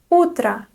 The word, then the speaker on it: утро: Word number 8 is Utra. Utra. You already know this word. You know the phrase доброе утро. So Utra is neuter, but again we have unstressed O at the end.